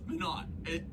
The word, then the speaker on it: Minot: I keep pronouncing the name differently of the place. It's Minot. I think it's Minot, right?